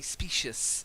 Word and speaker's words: specious: So people can be specious. So species, specious. Okay? Don't confuse the two.